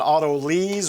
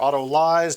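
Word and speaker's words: autolyse: then i'm gonna do an auto lease or auto lies depending on how you pronounce it i've heard it both ways and that simply means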